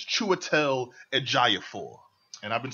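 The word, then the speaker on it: Chiwetel Ejiofor: Swinton mads Michaelson okay now I've I've been pronouncing this wrong apparently um it's chel aapor and I've been saying Chu edor I've been saying that I've been saying that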